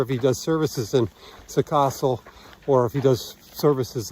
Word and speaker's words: Săcășel: We are leaving a village called Săcășel or Săcășel or Săcaș. It's been pronounced several ways to us.